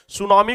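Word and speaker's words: tsunami: हम आपको बताते हैं, सुनामी को अंग्रेजी में कैसे लिखा जाता है। बहुत सारे बच्चे सुनामी को लिखते होंगे SUNAMI, लेकिन सुनामी के पहले एक टी लगता है और वह टी साइलेंट होता है।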